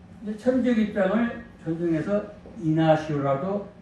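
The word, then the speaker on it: Ignacio: 시리아 안디옥의 주교인 이그나티오스, 헬라어로는 이그나티오스라고 하고 라틴어는 이그나티우스입니다. 영어도 이그나티우스 발음하는데 이것을 또 천주교에서는 에스파니아 언어로 바꿔서 이나시오 이렇게 또 지난 시간에 말씀드린 것처럼 바로 셈족, 또 게르만족, 또 북유럽이 되겠죠.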